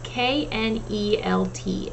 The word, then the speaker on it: knelt: um so the first word this week is nelt nelt is spelled k-n-e-l-t knelt it's basically past tense of meal so